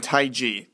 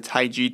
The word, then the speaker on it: TaiG: First off, I want you guys to know that there are only two legitimate jailbreaks out there, Pangu, which is spelled P-A-N-G-U, and Taig, T-A-I-G.